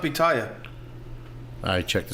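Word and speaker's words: Bentayga: How do you know it's not Bitaya? I checked the spelling and the pronunciation. Bottega?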